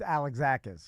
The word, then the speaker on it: Alexakis: It's Alexakis.